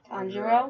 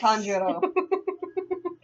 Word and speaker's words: Tanjiro: Tanjiro?